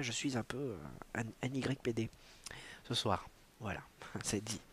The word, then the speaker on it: NYPD: Alors merci de ne pas le prononcer comme ça, il faut le prononcer à l'américaine évidemment. NYPD.